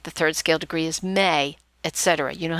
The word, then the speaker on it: me: It's spelled M-E, but it's pronounced may, as in M-A-Y.